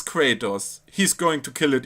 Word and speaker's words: Kratos: it about English, then it's just natural to pronounce his name how English pronounce would wrong, instead of the right way, which is Kratos. And I mean, I had 4 years of Latin. Kratos.